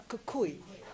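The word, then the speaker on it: Khoe: A Kukui.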